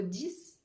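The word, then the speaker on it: dix: que 10 par exemple s'écrit avec un X à la fin mais se prononce S comme le 6 à la fin on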